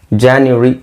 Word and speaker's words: January: ಜನವರಿ, ಈ ವರಿನ ಹೇಳಬಾರ್ದು, ವರಿ ಹೇಳೋ ಅವಶ್ಯಕತೆ ಇಲ್ಲ. ಇದನ್ನ ಜ್ಯಾ ಅಂತ ಹೇಳಿ, ಜಾನ್ಯುರಿ ಅಂತ ಹೇಳಿದ್ರೆ ಸಾಕು. ಜಾನ್ಯುರಿ ಇದೇ ಇದರ ಸರಿಯಾದ ಉಚ್ಚಾರಣೆ.